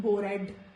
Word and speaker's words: bored: Also in the second form of the verbs, if letter E comes before letter D, then it is silent, like fixed, bored. It is not bored, it is bored, begged, talked, not talked, it's talked.